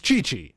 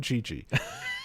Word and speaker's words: Chi-Chi: It's Chi-Chi, okay? It's fucking Chi-Chi.